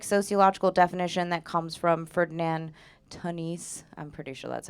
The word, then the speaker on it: Ferdinand Tönnies: And so for community, I'm working off a pretty basic sociological definition that comes from Ferdinand Tönnies.